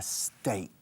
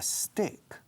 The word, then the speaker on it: steak: pronunciation training stick and you're not going to order a stick in a restaurant you're going to order a state scribe steak steak come on so you order a